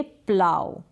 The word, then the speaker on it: plough: Next यहाँ पर spelling है PLOUGH, इसको आप प्रोनाउंस करेंगे प्लाव।